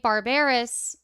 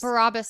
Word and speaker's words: Barabbas: And then Josh says the actor that played Barbarous Barabbas. Barabbas.